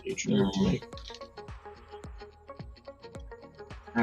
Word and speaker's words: H&M: You pronounce it HM, but pronounce the H like in ho.